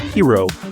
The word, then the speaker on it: Gyro: So again, hero and the Argonauts pronounced hero.